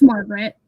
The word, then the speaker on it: Margaret: It's pronounced Margaret by most people. Although if I'm spelling it to someone, you'll hear me pronounce it Margaret, kind of Margaret. Like Galinda. Yeah. Yeah, no one pronounces the second A technically.